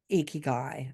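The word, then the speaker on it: ikigai: so it's going to be um and I'm icky guy I said it right yeah you did say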